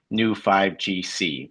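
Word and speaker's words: Neu5Gc: humans have a unique molecule in them called new 5GC which is spelled neu 5gc.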